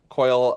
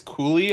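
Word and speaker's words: Cuylle: assist on the Will Coyle, or I think it's Cooley, apparently. That's how you pronounce his last name. I believe it's Cooley, yeah. With a bunch of weird extra vowels in there.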